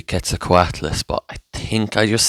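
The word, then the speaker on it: Quetzalcoatlus: fail to name the quela coess in no way he just said we cannot fail the name the c a Cess and he failed the name look I can't say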